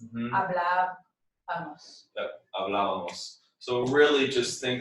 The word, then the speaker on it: hablábamos: But you want to move it to this syllable. So it's Mm-hmm. hablábamos.